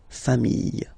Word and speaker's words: familles: the plural form, les familles, okay, remember, chien, singular form, chien, same pronunciation, but you put this S, okay, final S, not pronounced, famille, singular form, famille, plural form, same pronunciation, S, not pronounced.